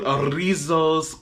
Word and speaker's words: Rizos: So that being the case, as you saw the title, I am finally getting into Rizos Curls. It's about damn time. You have to roll your R's.